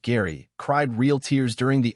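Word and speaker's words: Gerry: still a grieving widower Jerry pronounced Gary cried real tears during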